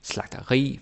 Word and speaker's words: slagteri: Almost every time you have a word that ends with I, like terapi, bageri, slagteri, fyrværkeri, energi, synergi, there's hundreds of those. You put the stress on the I.